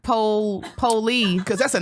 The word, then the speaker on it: Polee: I done comedy shows and they be like, so it's Polee, right? I'm like, just like it's spelled.